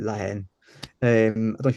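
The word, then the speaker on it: La Haine: I call it Lahane. If you're French, you'd call it Lahen.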